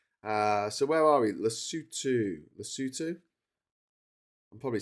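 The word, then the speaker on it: Lesotho: Uh, lutu is pronounced lutu. The people are called basutu and the language is called cisutu.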